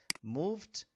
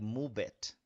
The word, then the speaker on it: moved: If we have move, remember e doesn't sound at the end, but when we put the the the past, sorry, when we used the past, we're going to increase an extra syllable. So, you said moved the Okay. Um, I'm going to say beginner students in English, they said like move it, move it.